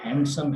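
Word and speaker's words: handsome: और इसी तरह से ये हैंडसम है, यानी इसमें डी जो है वो नहीं पढ़ी जाती।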